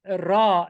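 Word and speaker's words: راء: It's funny how in Arabic Ra is pronounced Ra. So the letter R or R is pronounced Ra in Arabic.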